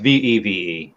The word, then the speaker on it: VeVe: I just saw a comment pop up, veve, but it's spelled VEEV. Oh no, it's VEVE.